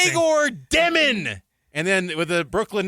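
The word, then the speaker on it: Demin: It's like, ", it's not Dyelmon." I'M LIKE, "I HAD SOMEONE who served a mission in Russia said it's Dyelmon." And then Yegor's like, "How to pronounce my name? Dyemon." Anyway, THAT'S HIM POINT-BLANK. HE SAID it point-blank. Like, "How to pronounce your name? Dyemon."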